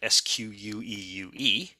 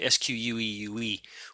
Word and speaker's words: squeue: You may, if you're really astute, discover from that that sq is a wrapper around a standard Slurm command called squeue, which is unfortunately pronounced the same way.